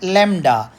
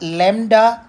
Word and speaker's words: lambda: name for it but that b is silent Lambda people are calling it Lambda it is written as